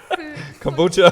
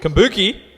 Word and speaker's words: kombucha: Kombucha? Smell there. That's it. Yeah, okay. How do you say that? Kombucha? Is that the pronunciation? I think it might be. It sounds right. Kombuki?